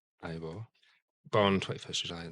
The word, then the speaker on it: Ivor: looking at the yeah ior ior pal do pronounced Ivor born 21st July not that you care about